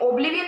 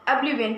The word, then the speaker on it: oblivion: ओ लिखा है तो ये ओब्लिवियन नहीं पढ़ोगे आप इसको, ये अ पढ़ोगे, ऑब्लिवियन पढ़ोगे आप, ओके।